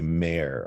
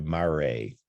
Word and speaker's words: mare: what we call the maria each one's a mare or a mare it's pronounced both ways by different people in different